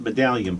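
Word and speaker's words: Madalian: ma d al IA n medallion chiropractic it's pronounced medallion but it's spelled ma da Li a and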